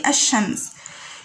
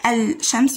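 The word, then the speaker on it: الشمس: We say ash-shams. You didn't pronounce lam while you pronounce it. You didn't say al-shams. You said ash-shams, like that.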